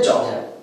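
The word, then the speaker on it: job: जॉब। क्या पढ़ते हैं? जॉब। ध्यान से देखें, है तो यहां पर इसका प्रोनाउंसिएशन ओ, लेकिन हम करते क्या है? आ।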